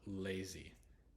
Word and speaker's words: lazy: the at the end it's when the Y has a e sound so lazy and the Y at the end changes the a exactly like an e would so lazy lazy e e lazy and then beauty Beauty